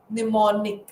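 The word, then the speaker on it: mnemonic: It starts with an M. M is silent. Pneummonic.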